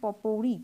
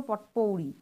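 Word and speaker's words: potpourri: এরপরে দেখো যেটা রয়েছে পপৌড়ি, POTPOUR, পপৌড়ি, বা বলতে পারো পটপৌড়ি। এবার টি এর উচ্চারণটা সাধারণত হয় না, এখানে বলা হয় এটাকে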